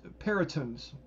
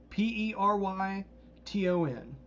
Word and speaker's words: Peryton: a pack of these Perytons. How do you guys want me to pronounce that? Because I'm not very good at that. Peryton. Oh, good name. Peryton works? Oh, that'll work, yeah.